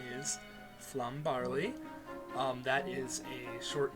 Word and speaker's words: Flum: And just in case you want to know, yes, that is Flum Barley, not Flam, as I have heard many people pronounce it.